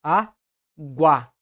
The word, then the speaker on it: água: Nós falamos aguá, com maior intensidade nesse último A da sílaba.